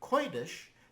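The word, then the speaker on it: קודש: not an uh and in the word koitish the valve is pronounced as an oi diphthong and there is no written vowel at all between the dalid and Sheen even though there's an e in there why is it spelled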